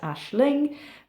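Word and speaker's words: Aisling: here how to actually spell it but it's pronounced Ashling uh my little dog Morgan is here with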